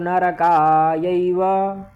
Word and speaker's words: नरका: ठीक है, अब शंकरो नरकायैव, शंकरो नरका, नरका, ठीक, नरका नहीं करना है, न रका, रा का पूर्ण उच्चारण करना है।